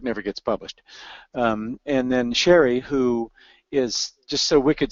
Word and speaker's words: Shari: my am i I'm sherry and it is pronounced sherry and thorough is pronounced thorough as incomplete that